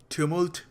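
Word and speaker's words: tumult: वैसे इसकी एक्यूरेट जो प्रोनाउंसिएशन है वो है टुमुल्ट। बट थोड़ा पंजाबी आदमी हूं। पंजाबी एक्सेंट है। थोड़ा टुमुल्ट कह रहा हूं।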